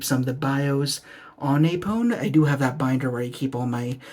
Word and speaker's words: Apone: I personally adore it we have a pone down here or maybe it's a pone but I've heard it pronounced apone so that's what we're sticking with but he looks really